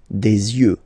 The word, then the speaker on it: yeux: Don't pronounce the final x as usual. Des yeux, all right?